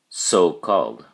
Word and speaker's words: so-called: so called assure you pronounce the final d sound and put the emphasis or stress on the first syllable so so called so called it is